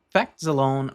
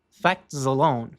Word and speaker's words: facts alone: E bom, a respeito da pronúncia, facts al facts al S acaba trazendo um sonzinho de Z bem sutil. Facts alone.